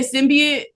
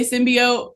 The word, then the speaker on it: Symbiote: So, people say it differently like uh some people say symbiate. I say symbiote. So, I call it symbiote.